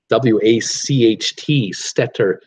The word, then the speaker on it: Wachtstetter: But it's the story of a woman by the name of Mama Lee Wachtstetter. I love how that's a German pronunciation, W-A-C-H-T, Stetter, Wachtstetter.